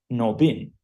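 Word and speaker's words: Nabin: But when you're going to write it, instead of this O, you need to write it an A-B-I-N. But it pronounced exactly Nobin.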